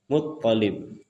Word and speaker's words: Muttalib: Jadi sebagaimana kita tahu ayahnya Nabi adalah Abdullah bin Abdul Muttalib. Jadi tasdidnya ada di ta, di to. Muttalib.